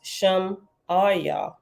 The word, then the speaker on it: Shemaiah: Shemaiah is pronounced Shem-Ayah. What? Shem-Ayah. I'm going to say Shemaiah. Is Shem-Ayah, Shem -AW-YA.